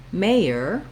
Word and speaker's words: mayor: and mayor is that the j sound with letter j is in the second syllable in the word mayor mayer we have the letter y and the sound ya it's a little bit